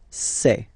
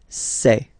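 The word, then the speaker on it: ces: then set here and for the plural say say really open this e e say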